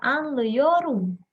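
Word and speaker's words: anlıyorum: Nah, jadi si a-nya itu dicoret langsung kita pakainya eyor. Jadi dibacanya adalah anleyorum.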